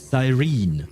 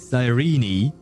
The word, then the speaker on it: Cyrene: American is Cyrene. British is Cyrene.